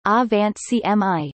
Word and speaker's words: Angewandte Chemie: Tangewandte Chemie, German pronunciation, A-Wand CMI, meaning applied chemistry, is a weekly peer-reviewed scientific